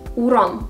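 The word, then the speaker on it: урам: is as an example let's take the word uram which means Street the stress is on the last syllable Ur easy right now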